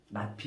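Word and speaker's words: not P: 물결이라고 읽지 말고 낫피. 읽을 때는 낫피라고 읽어. 낫피.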